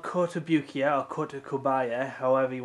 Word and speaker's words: Kotobukiya: inches tall originally made by a company called kotobukiya or kota kobaya however you want to pronounce it uh it's made i think it's